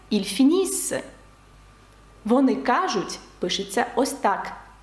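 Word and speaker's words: ils finissent: пишеться Ось так вимовляється ільфініс вони кажуть пишеться Ось так і читається як ільдіз нт наприкінці дієслів не читається також наприкінці слів у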